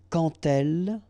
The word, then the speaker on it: quand elle: So like that, quand elle, all right, same rule here. Remember, when you will have this d, you will phonetically pronounce it like t.